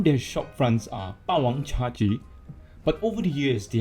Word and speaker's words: CHAGEE: over the years they have changed it to become just Chaji. Some people may call it Chaji. Well, but the point is that they simplified it to just two syllabus, making it easier to pronounce, making it easier to remember.